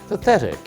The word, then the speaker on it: pathetic: The tricky thing here is the th sound. Yes, it's not a t sound, it's Pathetic.